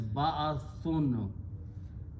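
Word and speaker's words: بَعْثٌ: Again, we made a noun by combining these three and pronouncing as ba'athun. Always when you make a noun, the last letter has two dhammas or two pesh.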